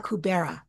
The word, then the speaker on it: Alcubierre: You'll have to help me if I'm pronouncing it wrong, Alcubierre. And it's known as faster than life travel, hyperspace, right? This is Star Trek kind of stuff. The Alcubierre metric. Alcubierre.